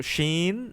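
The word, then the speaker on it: ش: So sheen needs to come from the middle part of your tongue by not touching anything.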